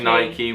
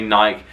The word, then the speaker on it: Nike: it's nike nike nike americans say nike we say nike but the americans are correct on that nike it is nike it's uh after the a goddess of something in greek you should know it's